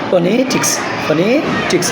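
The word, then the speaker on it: phonetics: Rule number 2 স্ট্রেসের, যদি কোনো ওয়ার্ড TIC অথবা TICS অর্থাৎ টিক বা টিক্স দ্বারা শেষ হয় বা শেষে যদি TIC অথবা টিক্স থাকে তাহলে তার আগে সিলেবাসটার আমরা স্ট্রেস দেব।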